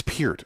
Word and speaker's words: Peart: It's Peart, okay. Yeah. And it's weird because when I first heard that, I thought, well, you know what? If I'm going to correct somebody, I'm going to say, Peart. It rhymes with... That rhymes with fucking nothing. Yeah. Fewer things rhyme with Peart than rhyme with orange.